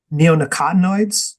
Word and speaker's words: neonicotinoids: of pesticides um neonicotinoids I believe is the pronunciation of this and these